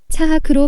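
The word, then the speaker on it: צחק: 히브리어로 이삭이 이츠하크, 희롱하다가 차하크로 발음하는데 조롱하듯 희롱하는 이스마엘은 분명 마음의 할례를 행하지 않은 모습입니다.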